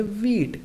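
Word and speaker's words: wheat: पढ़ेंगे बाई वीट गेहूं अब हम इसे हिट नहीं पढ़ेंगे इसे क्या पढ़ेंगे वेट क्योंकि डब्लू ह में वर्ड स्टार्ट हो रहा है और डब्लू के बाद हर तो हमारा ह साइलेंट रहता है हु से शुरू होने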